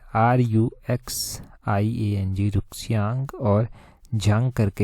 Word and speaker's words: Ruxiang: तो इनका नाम है इस तरह से RUXIANG रुक्सियांग, और झांग करके है आगे, इस तरह से इनका नाम है।